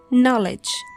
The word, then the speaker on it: knowledge: We pronounce from N. Knife. No. Knees. knowledge night.